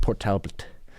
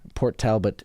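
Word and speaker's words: Port Talbot: Port Talbat. P O R T. T A L B O T. Okay. This is like kind of like the English pronunciation of like the Welsh.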